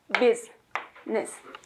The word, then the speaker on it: business: 북미 표준 발음. 몇 박자? 두 박자. 끊어서 business. 해볼까요? business. business 아니고 business. 뭔 차이야? 달라요. 박자가 띵띵이에요. business. biz 해서 z, z 들어가면 모음이 들어가면 안 돼요.